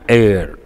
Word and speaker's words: heir: You are the heir apparent. That's a standard expression. Why is this important? H is silent. Then we should use A or an. They have been asking, please, an heir, not a.